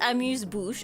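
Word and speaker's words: amuse-bouche: Well, it is pronounced amuse bouch according to Google.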